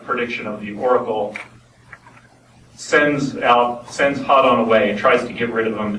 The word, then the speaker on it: Hadon: A lot of people pronounce it different ways. Hayden. Yeah. Phil pronounced it Hadon.